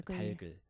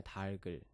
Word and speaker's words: 닭을: 그 다음으로는 이제 닭을 이게 표준 발음이 달글이에요. 달글. 왜냐면 아래 이제 겹받침이 있잖아요. 네. 그게 이제 리을 기역인데 리을이 남고 기역은 넘어가기 때문에 달글.